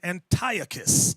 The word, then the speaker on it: Antiochus: Some people pronounce his name Antiochus. I've seen that on the Discovery Channel. Antiochus Antiochus, tomato.